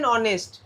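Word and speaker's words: honest: দেখ going to school সোজা জিনিস হি স্যাট দেখো গাছের নিচে বসে রয়েছে under C ইজ এন অনেস্ট এইচ তাইতো এন হবে অনেস্ট অ উচ্চারণ হচ্ছে এর উচ্চারণ হচ্ছে ভাল সাউন্ড তারপর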